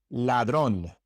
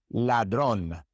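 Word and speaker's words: ladrón: In English, your tongue is relaxed as you pronounce the L. In Spanish, it is tense. So for example in ladron ladron it is not ladron I don't know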